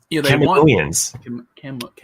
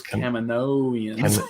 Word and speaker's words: Kaminoans: They Kaminoans. Kaminoans. Yeah, what a mouthful. Kaminoans. Yeah, because you switched the vowel sound, I guess, of the A. Yeah. Because I want to say Camino, but then I'm like, no, it's Kaminoans.